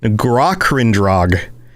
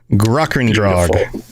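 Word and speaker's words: Grahkrindrog: list we've got g-r-a-h-k-r-i-n-d-r-o-g this is pronounced grachandrog gruckendrag yeah so uh garakrindrag was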